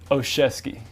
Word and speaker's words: Olszewski: Olszewski.